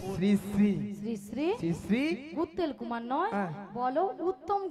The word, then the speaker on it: শ্রী: সিড়ি সিড়ি সিড়ি সিড়ি সিড়ি সিড়ি সিড়ি সিড়ি সিড়ি সিড়ি আমি কি সিঁড়ি সিঁড়ি বললাম? আমি কি বলেছি? শ্রী শ্রী। বলো শ্রী শ্রী। উচ্চারণ করো। তুমি ঠিক করে উচ্চারণ করো।